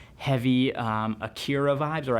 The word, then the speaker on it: Akira: got like heavy um Akira Vibes or I think like Acura is the correct way to say that but sounds kind of pretentious when you say it like that um yeah it's just